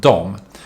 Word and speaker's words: de: to add then or dia that is pronounced dom so yog that is